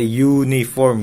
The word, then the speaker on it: uniform: Misalkan kalau misalkan kita bacanya you, ya kan, a uniform, yang dibacanya kan you ya, y itu a uniform,